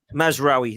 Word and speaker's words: Mazraoui: Is it Mazraoui? I don't know. Mazraoui. Or Lamptey. Mazraoui.